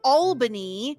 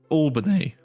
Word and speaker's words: Albany: And of course, as always, I'm joined by someone who definitely knows how to pronounce Albany. Stuart! Stuart, how are you? Albany.